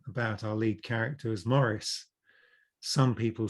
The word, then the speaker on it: Maurice: It's actually Maurice. It's not Maurice, it's Maurice."